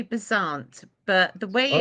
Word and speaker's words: Beasant: How do you pronounce the name, please? Well, I think it's got a French undertones. We say Besant, but the way it's Oh, spelled is Besant.